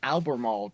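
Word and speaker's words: Albemarle: Um yeah, and uh other otherwise it's Alberall County because why the hell wouldn't it be pronounced in a weird way, but yeah, that's that's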